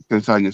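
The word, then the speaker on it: Castagne: The right wing Castagna. Castagna. Oh, yeah, like lasagna, but see.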